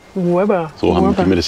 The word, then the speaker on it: Łeba: Man schreibt ja Leber, aber ausgesprochen wird es Weber. Weber.